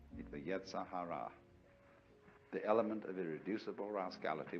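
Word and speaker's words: yetzer hara: In Jewish theology, this is called the yetzahara. Yee ze r h a r a. The yetzahara, the element of irreducible rascality which was created by God because God has one too.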